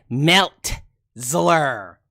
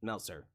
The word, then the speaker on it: Meltzer: That boy said Meltzler. Not Meltzer, but Meltzler. You nerd. Dave Meltzler. You nerd. Not saying you're a nerd for getting his name wrong, but Meltzer. Meltzler is a nerd.